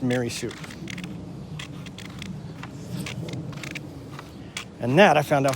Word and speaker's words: Marisu: as a child I always thought it was mirasu mirasu no it's maryu m a r i s pronounced marisu and that I found out from Joe my